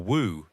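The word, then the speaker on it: 無: He said, in Chinese, mu or wu in Mandarin pronunciation is a negation, meaning no or nothing, or without or does not have.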